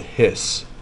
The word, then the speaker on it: His: bundle hahaha bundle of this is a weird word okay it looks like his but it's called hiss bundle of hiss I should write write